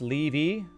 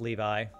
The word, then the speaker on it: Levi: Levi isn't it pronounced levy well if it's a biblical name at least in America it's pronounced Levi but well will we